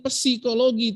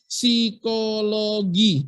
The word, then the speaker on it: psikologi: psikiatri tapi si kiatri sama kayak psikologi bacanya bukan psikologi tapi psikologi tuh jangan-jangan yang psikologi